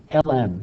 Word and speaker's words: ln: is three-fourths okay okay ln that's how you literally say it you say it l-n that's how you pronounce it okay next we're going